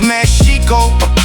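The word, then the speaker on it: Mēxihco: The name Mexico itself comes from Mexico in classical Nahuatl spoken old, pronounced Meshico, not the Spanish version the colonizers told.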